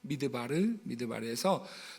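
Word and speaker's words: מדבר: 히브리어로 광야라고 하는 단어가 미드바르라고 말씀을 드렸어요. 히브리어로 이렇게 생겼습니다. 미드바르에서 노란색이 미자 발음이 나는 거예요.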